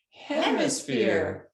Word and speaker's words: hemisphere: Hem, sphere. Oh, Miss Henry's class are experts at this. Let's do it again. Hem, sphere. And zip it up. Hemisphere. Yeah, Yay. 3 syllables, not one word.